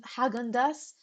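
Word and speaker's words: Häagen-Dazs: Hagandas, Hagen, Hagandas, that's how you pronounce it.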